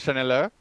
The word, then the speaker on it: Shenelle: I pronounce it as Shenelle, right? Yeah.